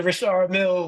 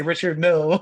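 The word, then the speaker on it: Richard Mille: it's like those watches like the Rashard Mill watches and then like if you broke you say Richard Mill like yeah like okay Rashard the Swiss pronunciation Rashard right my name's like bro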